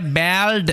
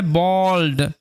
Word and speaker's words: bald: এই যে শব্দটা তোমরা দেখতে পাচ্ছ, BALD, এটা ব্যাল্ড এরকমভাবে উচ্চারণ করবে না, এটার উচ্চারণ হবে বল্ড।